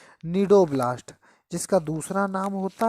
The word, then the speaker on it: cnidoblast: निडोब्लास्ट, जिसका दूसरा नाम होता है स्टिंगिंग सेल। क्या बोलते हैं बेटा? Stinging cell. निडोब्लास्ट की स्पेलिंग भी सी से ही स्टार्ट होती है, CNIDOBLAST।